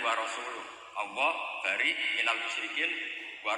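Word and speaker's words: ورسوله: Allah itu terbebas, gak urusan dengan orang musyrik, wa rasulih juga gak ngurus Rasulnya. Kalau sama Rasul saja tidak ngurus, apalagi sama kita. Sama Sayyidina Ali dibenarkan yang benar bacanya itu wa rasuluh.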